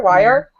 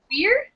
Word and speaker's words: Weir: Weir? Wire? Weir. Wetner? Okay, That's yeah. how I think I pronounce it. Weird?